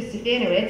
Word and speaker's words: Stefanowitz: Stefanowitz. It rhymes with Bananowitz, but please don't call me Mr.